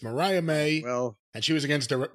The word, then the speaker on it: Mariah May: May wrestled Diana perzo Mariah she she did Mariah May well she may what no Mariah May is her name it's not Maria May it's Mariah may you said Maria May it's Mariah May and she was against di danana danas she